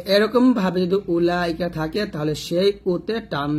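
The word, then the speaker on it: أولئك: উলাইকা এরকম পড়তে হবে উলাইকা তাহলে এরকম যত উলাইকা পাবেন এই উতে আপনারা টান দেবেন না এটা ভালো করে বুঝে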